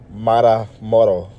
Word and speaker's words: Matamoros: Now this is gonna be the origin of Matamoros, or the correct pronunciation would be Matamoros.